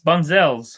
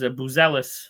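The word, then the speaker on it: Buzelis: Batis Bunzels, I know I'm saying that wrong, but the only thing the Bulls have to look forward to is Buzzellis, excuse me, I got to say his name right, dropping 22.5 points a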